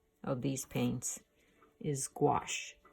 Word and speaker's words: gouache: of these paints is gouache gwas eh like wash with a G in front of it wash that's the French